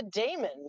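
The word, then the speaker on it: daemon: One of my book series, you know, it's an ae vowel.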